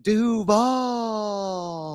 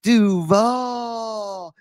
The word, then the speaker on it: Duval: on the road in Duval, as Liam Cohen pronounces it. It's still weird with that drag. Duval.